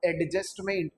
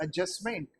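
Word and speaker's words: adjustment: जैसे this is नॉट एडजस्टमेंट, इट इज एडजस्टमेंट, right.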